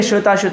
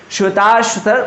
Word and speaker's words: श्वेताश्वतर: आगे बढ़ें, देखो यही है श्वेता उपनिषद, श्वेताश्वतर उपनिषद, इसका शुद्ध प्रोनाउंसिएशन होता है।